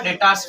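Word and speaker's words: debtors: credit hours आया तो य प डेटस आता बी साइलेंट रहता डेटस पढ़ना इसको ओके अब फर्नीचर है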